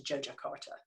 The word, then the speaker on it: Yogyakarta: how to pronounce properly it looks like yogyakarta that has actually said to joe jakarta so the jojocart is